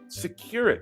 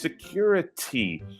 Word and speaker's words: security: And I hear this all the time when they're talking about a guard at an airport or something, they say "securit". No. It's "securitY".